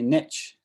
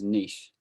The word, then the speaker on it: niche: And a lot of people say niche, which annoys me, because it is a French word, it comes from the French. And the correct pronunciation is niche. But even though that is the accepted pronunciation, lots of people still say niche.